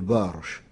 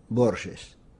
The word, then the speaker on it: Borges: quelques difficultés aux français quand j'étais étudiant genève tout le monde m'appelait borges c'est à dire on laisser cela d'une façon est phonétique alors pour moi c'est la même chose la vraie bonne gestion c'est une prononciation portugaise il ya deux siècles ce serait borgès mais vous pouvez vous